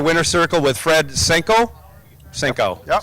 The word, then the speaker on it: Senko: Senko. Senko, yeah. Okay. I've been mispronouncing it or saying it both ways all weekend long with You're the good. whole Senko family. I thought it was a hard O, but congratulations on your win in Super Street.